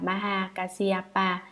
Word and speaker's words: Maha Kasyapa: Ngài Maha Ca Diếp, Ấn Độ đọc là Maha Kasyapa, chữ Hán là Đại Ẩm Quang, thần ngài